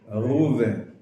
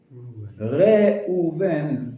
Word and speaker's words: Reuven: And we just say Ruven. Reuven is actually correct.